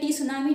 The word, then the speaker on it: tsunami: कर देती हूं जैसे इसको बोल दिया सुनामी टी साइलेंट है सुनामी है तो पीस